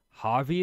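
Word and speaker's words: Javi: Like um I like the way that that Harvey is said. J A V I like I like that that name.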